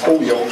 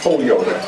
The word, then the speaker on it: Holyoke: who was the then sitting state representative for Holyoke I would imagine and he was running for